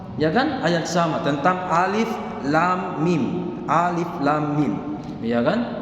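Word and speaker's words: الم: Teman bukan alif lam mim. N baca alama.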